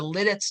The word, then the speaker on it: Lititz: up until 1880 and the reason they added the second T is because the U.S post Office wanted to make the word sound more like it's spelled okay so that's a